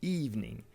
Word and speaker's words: evening: Et puis oui, encore une fois, une lettre est muette, le deuxième E ne s'entend pas.